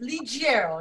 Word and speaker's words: Ligiero: Ligiero. Do I say your last name right? Almost Ligiero. It's a soft G.